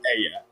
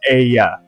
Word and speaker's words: Aya: I'm gonna help you out, Nathan, because I have the worst spelling, but it's Aya. I know you pronounce it based on the letters correct, but it's Aya.